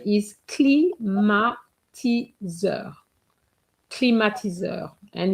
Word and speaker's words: climatiseur: And just to respond to a question, the pronunciation is climatiseur.